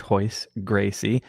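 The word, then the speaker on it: Royce Gracie: second stripe on my blue belt uh with hoist Gracie so if you're not familiar with ho it's spelled r y c like Rolls-Royce uh but it's pronounced ho Gracie now the Gracies are essentially the first family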